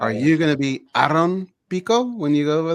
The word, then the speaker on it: Aaron: Are you going to be Aaron Pico when you go over there? Will you play that off, or like how does that work? Well, Aaron is how you say it.